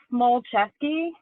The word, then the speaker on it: Smulczeski: your last name um you say it like small chesky and you spell it